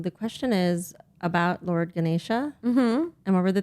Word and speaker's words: Ganesha: During Diwali, people pray to Lord Ganesh to expect what in return? Wealth, happiness, or good luck? To Lord Ganesha. Yes, I'm sorry, I mispronounced it. Ganesha.